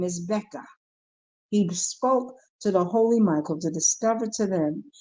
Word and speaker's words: Beka: Becca is spelled Beka. Becca.